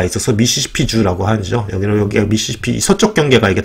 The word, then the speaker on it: 미시시피: 여기가 미시시피, 서쪽 경계가 이게 다 미시시피강이죠. 예. 예. 그리고 발음할 때는 미시시피라고 읽어야 된대. 미시시피. 그렇죠? 좀 약간 강하게 해야 되나 보죠?